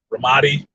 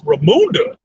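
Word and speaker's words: Ramonda: Ramadi. That's what he was calling her ass. Ramadi. I'm like, motherfucker, it's Ramunda. Fucking Ramunda. You know, rhymes with Zamunda?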